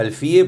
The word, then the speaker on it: Alfie: Oficina de Planeamiento y Presupuesto, OPP, economista Isaac Alfie. Gracias por estar en Quién es Quién. Muchas gracias, Gustavo, por la invitación. Aclaro lo de Alfie porque se dice Alfie, Sí, su sí, apellido, sí.